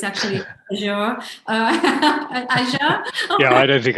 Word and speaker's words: Azure: play with some of the tools, which I pronounced wrong, Nick. So it's actually Azure.